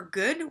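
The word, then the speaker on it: god: pretty few actually so you can go ahead and assume if you ever see a d at the end of a word that the D is silent so again for good we have go g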